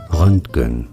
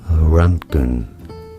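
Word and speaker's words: Röntgen: you say it willhem run vhm run is how it is said in German now in English this is generally said as wilhem Ranken wilhem Ranken runen Wilhelm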